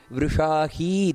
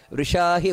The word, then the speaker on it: ವೃಷಾಹಿ: ವರ್ಧಮಾನಶ್ಚ ವಿವಿಕ್ತ ಶ್ರುತಿ ಸಾಗರಹ ಇಲ್ಲಿ ವೃಷಾಹಿ ದೀರ್ಘ ಬರಬೇಕು ವೃಷಾಹಿ ವೃಷಭೋ ವಿಷ್ಣುರ್ ಅಷ್ಟೇ ಅಲ್ಲ